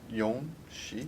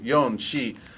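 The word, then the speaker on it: 四: Yon, shi? Yeah. So yon, shi is another homonym for death.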